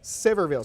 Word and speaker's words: Sevierville: How do you pronounce the name of the town? Sevierville? Sevierville.